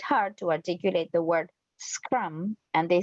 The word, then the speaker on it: scrum: The mistake is to pronounce an he S, vowel before an e vowel vowel. before the cluster.